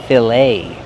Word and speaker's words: filet: We see the e t making the long a sound like say and day. Filet.